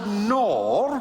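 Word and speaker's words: Knorr: um it's it's it's made by a company called nor um but it's a silent k um and I can't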